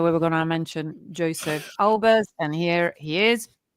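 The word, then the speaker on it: Josef: created by Joseph, and actually I think it should be pronounced Joseph, because he was a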